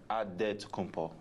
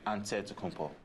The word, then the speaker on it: Antetokounmpo: The Nigerian way, you gotta say it with a D, so it's Antetokounmpo. But in the Greek way, you say with the NT, like Antetokounmpo.